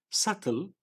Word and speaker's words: subtle: they think less of subtle the B is silent and it means hidden